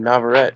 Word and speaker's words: Navarrete: It's Elorde and Navarrete, so pretty good.